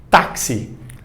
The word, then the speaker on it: táxi: Você teve aqui 2 letras, só que essas 2 letras tiveram 3 pronúncias.